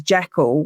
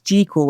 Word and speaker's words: Jekyll: it's the only film version um where they pronounce jackal correctly cuz we've all adopted it as jackal whereas 1931 it's jal and that's how it's supposed to be in a novel.